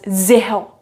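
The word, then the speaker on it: zéro: you assent on e so this is pronounced as zeho please have a look here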